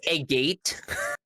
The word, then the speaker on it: agate: It's pronounced agate.